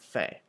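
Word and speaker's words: faim: um in this one make sure that you're pronouncing f a i m like um and not like fame or F because f is the word for woman um so just careful with that one um so it should be pronounced Fe so sort of like an F A Y sort of sound Fe so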